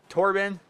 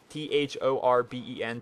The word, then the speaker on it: Thorben: T-H-O-R-B-E-N, Torben. But the H is silent. Let me know that's not Thorben.